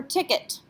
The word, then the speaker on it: ticket: It ends in the letter T, so should we pronounce that T? No, it's not a careful letter. It's not a C, R, F, or L. In fact, ET is a letter combination. We pronounce this ticket.